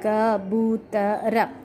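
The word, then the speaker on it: कबूतर: Okay, pura we call in Hindi as kabutar, kabutara. So four letters, ba. Second letter ba is having symbol of u. That's how we pronounce this word as kabutar.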